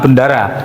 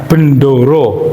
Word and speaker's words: Bendoro: Sebentar bacanya karena itu orang Jawa ya bacanya jangan bendara. Bendoro. Bendoro. Iya. Bendoro. Karena kalau bendara jadi seolah-olah kayak bendera gitu ya.